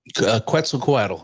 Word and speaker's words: Quetzalcoatl: And that's the god, I don't know if I'm pronouncing this right, Quetzalcoatl? Coatl. Yes. How do you say that? Quetzalcoatl.